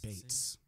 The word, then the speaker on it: Beetz: By the way, I believe she did recently correct the world on the pronunciation of her name. Zazie? Zazie Beetz. It's Beetz.